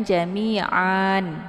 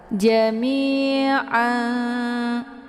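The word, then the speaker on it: جميعا: baris ini dihilangkan ya jadi tanwin ini tidak dibaca dua-duanya ya jami'a jadi jangan jami'an ya namun bila kita meneruskan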